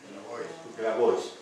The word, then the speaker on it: Grabois: Organizados por el argentino Juan, ¿cómo lo pronuncian? ¿Grabois o Grabois? Grabois.